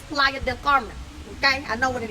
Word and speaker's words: Playa del Carmen: were in the YouTube streets Defending Your Spanish pronunciation yes it's Playa Del Carmen okay I know what it is period so